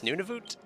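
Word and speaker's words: Nunavut: What's Nunivoot?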